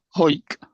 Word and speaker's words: Harwick: R W I C K and it's pronounced Hike.